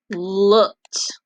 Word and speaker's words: looked: Looked. Good. And as looked, make the t or the d sound. T, t, T, right? You hear T.